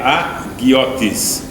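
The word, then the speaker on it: ἁγιότης: Santidade do grego agiotes, ele colocou a pronúncia moderna. Não, porque no antigo, no texto bíblico, aquele N lá é um E, mas no moderno é um I. Ele pôs a pronúncia, por isso que é agiotes.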